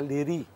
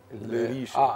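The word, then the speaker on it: Leriche: الريش في بعض الناس بتنطقها ليري، ليريش. لكن هي اشهر ليريش في الاصل يعني، بس هو فرنساوي. ليريش.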